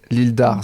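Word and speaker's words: Île d'Arz: jamais le nom une l'Î d'Ars voilà don je crois le Z ne se prononce pas on sait jamais voilà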